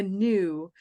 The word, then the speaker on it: gnu: since you wrote it gnu GN it's how it's a bird it's a big bird a new okay they're said they're said the same way um so new not